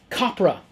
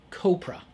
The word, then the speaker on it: Copra: Also from Image, Copra, or Copra. It's supposed to rhyme with Cobra, I believe.